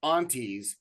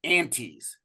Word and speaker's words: aunties: I personally got an email from a Hawaii fan telling me that it's not pronounced aunties, it's pronounced anties.